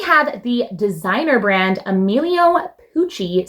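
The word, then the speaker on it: Pucci: Pooie rhymes with Gucci, and everyone knows what Gucci is.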